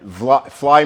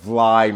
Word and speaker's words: Vly: with one arm and V fly Market is a mispronunciation of vly Market which is a Dutch vly means uh Valley in in Dutch or a low-lying area okay we're doing okay